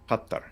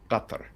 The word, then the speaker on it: Qatar: Qatar. It has the Q is a glottal stop. Qatar.